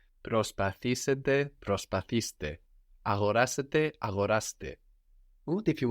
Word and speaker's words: Προσπαθήστε: Προσπαθήστε. Προσπαθήστε. And the accent is on the e, προσπαθήστε, as if it were third from the end, as if that end didn't disappear, as if it were προσπαθήσετε.